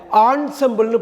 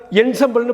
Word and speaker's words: ensemble: ENSEMBLE ஆன்சம்பிள்னு படிக்கணும். இது வந்து நம்ம என்சம்பிள்னு படிக்க வாய்ப்பு இருக்குது, அப்படி படிக்கக்கூடாது.